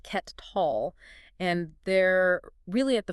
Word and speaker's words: Kettal: Yeah, pronounced Ket Tall.